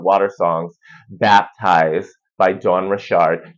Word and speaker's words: Richard: of my favorite water songs baptized by Dawn Rashard spelled like Richard but pronounced rard what's it coming down like like here we